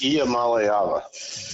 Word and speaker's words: Iamaleava: You want to pronounce his last name, Dean? It's Iamaleava.